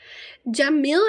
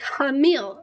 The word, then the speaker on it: Jamil: I guess Jamil is pronounced with a Spanish J. Like Hamil. Oh. Sana Hilwa Ya Hamil. Sana Hilwa Ya Hamil. Or Ya Hamil. It's actually an English J.